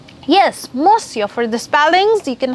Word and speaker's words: monsieur: good morning, mister, then you would say bonjour, monsieur. Yes, monsieur.